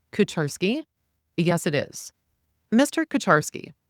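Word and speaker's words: Kucharski: It's pronounced Kacharski.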